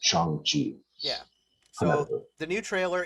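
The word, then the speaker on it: Shang-Chi: just you know in parentheses uh yeah it's chongchi yeah so the new trailer it's a short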